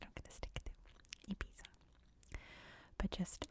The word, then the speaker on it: Ibiza: have to correct me, that in Spain this is pronounced Ibiza. These are pronounced as a TH, Ibiza. But I'm trying to just stick to English pronunciations here, and in English we say Ibiza.